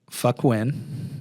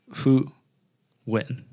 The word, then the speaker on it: Fu Win: which is Jenny's name, but it's really Fu Win, right? It's not, there's not a hard C. It's not a hard F. But when you look at it, it's fuck win.